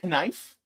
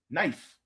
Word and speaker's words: knife: It's like, do you say knife? No, it's knife.